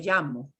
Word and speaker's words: llamo: Do not do the strong zh thing, because that is very, very regional and specific to one region. So when you hear, or when you want to say my name is, it's me llamo. And it can be me llamo or me llamo. I have that little j thing in there.